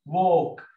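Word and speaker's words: walk: بعد كده ووك، احنا قلنا الايه؟ الاي ورا الدبليو او مفتوحه يبقى واو، والال سايلنت ووك، تو سكول، السي كي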